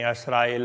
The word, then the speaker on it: असराइल: इसके लिए फिर के बनी असराइल हुए पीछे मूसा महतर। बनी असराइल, असराइल इसराइल, इस तरह से वो उच्चारण में थोड़ा थोड़ा फर्क है। कोई असराइल कहते हैं, कोई इसराइल कहते हैं।